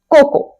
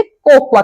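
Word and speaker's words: cocoa: कोकोवा कर देते हैं जबकि इसको कहना चाहिए कोको अब ये वो एक पाउडर हो है जो कॉफी में या केक्स बनाते समय यूज होता है आपने देखा होगा है ना कोको फ्लेवर पर स्पेलिंग में ए आता है इसलिए बहुत से लोग इसे कोकोवा कह देते हैं एग्जांपल के लिए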